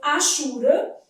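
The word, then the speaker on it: hachura: Então, achura eu tenho isso aqui mesmo. Aqui ainda tem um dígrafo, né? Então, a letra H deve ser lida como R? Não, ela não é pronunciada.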